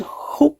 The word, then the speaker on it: Haute: Anyway, what I've done is I've used the red, which is called Haute Red, like Haute Couture, as accent on the A, the M, the C.